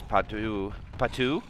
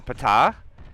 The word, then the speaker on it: Pata: And here goes Patu, or Pata. Pata is how you say it.